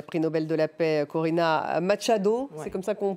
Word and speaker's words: Corina Machado: en réaction justement euh parce qu'il n'y a eu une réaction de la prix Nobel de la paix, Corina Machado, c'est comme ça qu'on prononce et Maria Corina Machado Maria Corina Machado